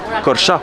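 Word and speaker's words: Korçë: Corcha, pardon. Ça s'écrit Corché, mais ça se prononce Corcha.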